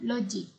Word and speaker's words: logik: Ada lagi yang selalunya pelajar tersilap adalah ejaan logik. Okay, ejaan logik. Sebab sebutannya adalah seperti logik. Okay, macam J. Tapi ejaan yang sebetulnya ataupun ejaan yang betul adalah L-O-G-I-K.